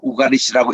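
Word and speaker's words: Ugaritic: 영어권에서는 이거를 유가리시라고 발음하고 유럽권에서는 이거를 우가리시라고 발음합니다. 그냥 있는 그대로 우가리시라고 읽는 것이 좋을 것 같아요.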